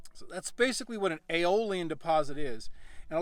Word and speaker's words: Aeolian: a certain specific term it's it's aioli and I believe it's spelled AE l AE oli a n and an aioli in